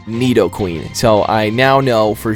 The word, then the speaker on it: Nidoqueen: And also, there's a lot of Nidoqueen. Yes, somebody finally gave me the correct pronunciation of it. A lot of people were telling me, it's not Nido Queen, it's Nido Queen.